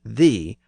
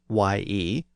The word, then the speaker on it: ye: As I've noted before, it's actually the word "thee," but since it was spelled Y-E, people thought it was supposed to be pronounced as ye.